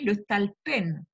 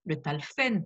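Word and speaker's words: לטלפן: grammaire hébraïque, se dit le talpen. Certains prononcent le talfen par assimilation, ce qui est une erreur, puisque le verbe arrivé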